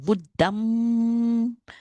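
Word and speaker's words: Buddhaṃ: So we pronounce it like the sound NG. Like sing, you have the You see this in every time you see like Buddham.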